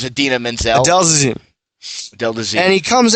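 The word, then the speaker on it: Idina Menzel: the audio of that he's like and now ad Adele deine that's what he said when her name is Adena Menzel Del de and he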